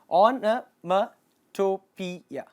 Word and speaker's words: onomatopoeia: அதை எப்படி ப்ரொனவுன்ஸ் பண்ணணும் அப்படின்னா ஆனமட்டோபியா.